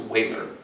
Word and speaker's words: Euler: So as a child, I often thought that this must be pronounced Euler, but it's not. It's Euler.